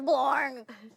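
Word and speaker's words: Blorng: are my name is blor the g is silent that's pretty much all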